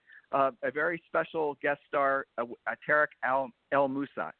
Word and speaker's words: Tarek El Moussa: A very special guest star, Tarek El Moussa. I pronounced it right? Yes, I did. You said it right. Tarek El Moussa.